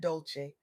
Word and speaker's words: Dolce: I'm your host Dolce pronounced dolce like sweet softness whispered in French.